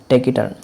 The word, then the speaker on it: taciturn: बहुत कम बोलने वाला, शांत रहने वाला व्यक्ति और रिजर्व्ड स्वभाव का हो, उस व्यक्ति को बोलेंगे हम टेक इट टर्न।